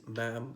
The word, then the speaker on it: ma'am: opening the conversation so it is ma'am to run with ham and not mom to write with par